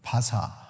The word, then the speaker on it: 바사: 그 바사 성경에 파사이 왜 바사라 그러냐면은 어 페르시아 할 때 P 페르시아 S I에서 Pers샤 아 발음이 Pers샤 Pers샤 바사 이렇게 바사가 그냥 전혀 다른 이름이 아니라 우리는 페르시아 이렇게 있지만 벌샤 바사 이렇게 연결이 되는 겁니다.